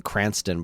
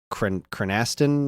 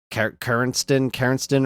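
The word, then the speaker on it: Krrsantan: I always called him Cranston, but it's Cranaston or Caranston or whatever.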